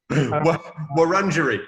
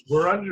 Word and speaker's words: Wurundjeri: Wurundjeri. Yeah, well done. Wurundjeri. Yeah, but you're not on Wurundjeri.